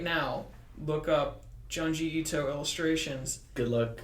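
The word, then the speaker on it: Junji Ito: right now look up geunji ito illustrations good luck spelling them it's smell it's spelled like it sounds ju n ji I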